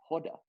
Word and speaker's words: Hoda: Whenever she meets someone, she goes, it's Hoda, like Yoda, but with an H.